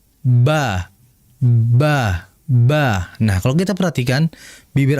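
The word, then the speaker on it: ب: Mim dan ba itu pengucapannya dengan cara bintibaq syafatain. Intibaq ya. atau bisa kita bahasakan dengan menempelkan atau merapatkan bibir atas dengan bibir bawah sehingga dibaca ba ba.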